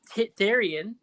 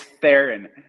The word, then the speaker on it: Theron: I always take Therian as, is it Therian? Did you say Therian? I take It's Therian as like French. it's Theron. Theron.